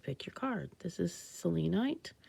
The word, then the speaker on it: selenite: This is selenite. I hear people call it selenite, but I think of it as a Greek word and pronounce it so.